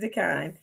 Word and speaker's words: Dekine: Marlanda Dekine.